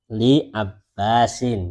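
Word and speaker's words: لعباس: Li abbasin ya. Bukan lil ya, tapi li gitu saja. Kenapa? Karena Abbas tidak ada pakai alif lam, jadi langsung libasin.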